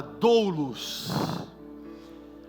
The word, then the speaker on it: doulos: Ao se apresentar, o apóstolo Paulo utiliza uma terminologia que no original tem por pronúncia a palavra doulos.